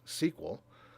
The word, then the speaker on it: SQL: lot of different databases some version or another of SQL or it's pronounced sequel by people who use it quite often if you learn